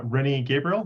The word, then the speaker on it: Rennie Gabriel: My guest today is Rennie Gabriel. I pronounced that properly, correct?